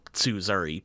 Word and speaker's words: Tsuzuri: It's pronounced Tsuzuri, by the way.